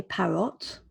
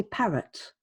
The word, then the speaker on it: parrot: Parrot, we don't say parrot, even though it's an O, we say parrot, parrot.